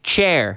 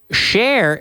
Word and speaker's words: Cher: Share, by the way. We don't say chair. It's always silla. Share rhymes with like the word share. De compartir. Se pronuncia así. Share. Always share with your friends. S-H-A-R-E, but C-H-E-R, the artist, share. Pronounced that way.